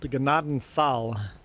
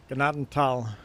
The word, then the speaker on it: Gnadental: Now, most people mispronounce gennaden tal. They read it the way it's spelled, gennadenthal, and you do not pronounce the th. Pretend the th is just a t. Ganadantal.